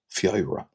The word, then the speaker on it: Feabhra: Just to break that down a little slower, Feabh, like f y e o, Feabh, Feabh, Feabh, Feabhra, Feabhra, Feabhra.